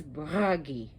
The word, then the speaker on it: Bragi: So her husband is Bragi, and that's him in the background. Notice how I rolled my R's. All the R's are rolled. You could say Bragi, but Bragi if you can pronounce it that way.